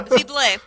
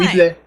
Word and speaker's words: Weeble: So, Vible. I feel Vible. bad. We have been Vible. mispronouncing his name for a long time. Weeble.